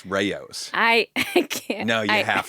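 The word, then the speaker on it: Rao's: up into your body we were talking about Rouse tomato sauce right yeah and somebody on Instagram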